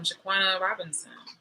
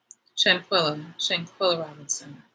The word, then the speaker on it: Shanquella Robinson: Again, I'm thinking about remember that girl that everybody's talking about, Shaquana Robinson. Let me say her name right. Let me make sure, like I don't want to say it disrespectfully. Shanquella Robinson.